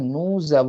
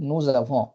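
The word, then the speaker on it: nous avons: উচ্চারণ সময় এস টা উচ্চারণ হয় না যখন নু জ্যাভ উচ্চারণ করি তখনই এস এর স এর প্রভাবটা এভোর সঙ্গে জুড়ে যায় তো এটাকে আমরা বলি ফরাসি ভাষায় লিয়াজো প্রোনাউন্সিয়েশনের লিয়াজো তো এখানে আমরা এরকম ভাবে বলবো নুজাভ আমাদের আছে ফুজাভে তোমাদের আছে লিয়াজো এখানেও কিন্তু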